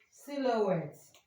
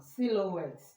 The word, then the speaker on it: silhouette: We also see it in silhouette. Sil that is how to pronounce the sound silhouette.